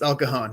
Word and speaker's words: El Cajon: el cajon that's how you say it yes el cajon yep absolutely and so um like is so